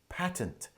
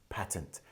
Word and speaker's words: patent: patent wrongly well so there's a difference between the US pronunciation and the British pronunciation in the UK we pronounce it as patent but American English or North American English is pronounced as patent so I guess as